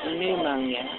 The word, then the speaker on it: pneumonia: You spell it P-N-E-U-M-O-N-I. But it's pronounced the same? No, pneumonia. Oh, pneumonia.